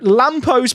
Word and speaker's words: Lampo: Okay, so Lampo's playing up top. For people who missed it, Lampo is this player we've signed just because his name rhymes with Champo, who's developing quite a lot.